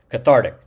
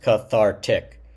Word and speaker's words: cathartic: So, you can tell that the emphasis is really on the second syllable here. Thar cathartic.